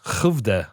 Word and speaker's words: Skövde: Satisfactory, made in Skövde, I think is how you pronounce it in Sweden.